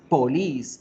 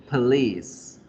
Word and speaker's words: police: Piensen acá, la palabra policía ya no la vamos a pronunciar más police, police, police, ¿cierto? No va a sonar O, va a sonar a schwa y vamos a decir police, police.